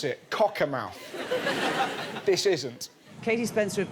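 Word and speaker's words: Cockermouth: Now one of the worst affected places was the northern town of Cocka Mouth. That's that's how you pronounce it. Cocka Mouth.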